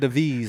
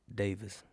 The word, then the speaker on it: Daviz: How do you pronounce it? Davis. It's just pronounced the same way, but See, it's the same way.